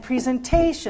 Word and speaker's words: presentation: And presentation.